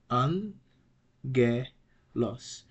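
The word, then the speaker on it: ἄγγελος: like an N here the first gamma is pronounce like an N when gamma precedes another gamma when it precedes uh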